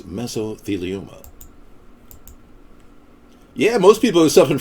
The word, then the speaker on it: mesothelioma: The correct pronunciation is mesothelioma.